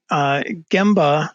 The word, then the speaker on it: Gemba: Yeah, so Gemba, and I prefer the hard G on it too, but a Gemba walk